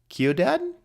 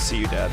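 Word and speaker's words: Ciudad: I just say that Lee kiodad like Keo dad I want to say here we go oh it says it says see you Dad foreign that's how you say it let's see you Dad okay interesting uh it means the city okay it means the city but as you say it like let's see you Dad let's see you dad okay that makes sense that makes sense uh let's see you Dad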